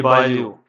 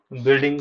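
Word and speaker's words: Boileau: और जे जे बालू, जे टी बालू ने इसको डिजाइन किया है, बालूगंज जो नाम है वो इस बालू के नाम पर है, जे टी बालू, BOILEU, इनकी स्पेलिंग थोड़े ऐसे होते हैं, जे टी बालू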